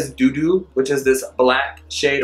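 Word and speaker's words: Dudu: We're gonna go in with Doo Doo. Doo Doo. But it's spelled D-U-D-U. It's not like doo-doo.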